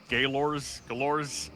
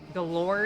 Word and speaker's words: Galor: Galores? Galore is how they pronounce it typically. Galore. All right. So it's a schwa on the first vowel.